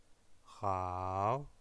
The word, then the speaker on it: 好: Ni, hao, hao, c'est également un 3e ton.